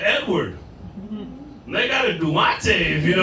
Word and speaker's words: Duante: My name's Duante. It's spelled all fucked up though. Yeah, it's Duante. So I get everything from Duante to Duante. You even get Dwayne once in a while, like the T silent and shit.